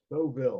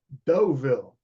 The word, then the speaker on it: Deauville: In addition to that, we also have the, I don't know how to pronounce it, the Buoy Inn, which is over here. Deauville. The Buoy, what? Deauville.